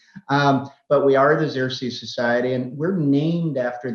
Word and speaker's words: Xerces: the xerxes society um it is pronounced the zirsi society i've had people come up and i think half jokingly say are you the exorcist society um but we are the xerxes society and we're named